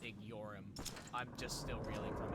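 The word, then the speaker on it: Igeyorhm: at the fact that the A's name is pronounced IG yorum I'm just still reeling from it truly we're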